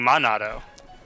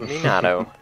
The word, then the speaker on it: Minato: __ ] thing well you're saying Mado I said Minato I'm chewing gum at